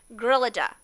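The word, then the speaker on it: Gryllidae: family of insects called Grillida. Okay, and I looked up how to pronounce it. Some of these scientific words, boy, they give me a lot of trouble. Grillida, okay? It sounds like grilled cheese.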